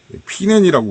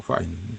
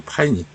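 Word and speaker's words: pinene: 피넨이라고 우리는 또 읽는데, 발음이 파이닌이더라고, 파이닌.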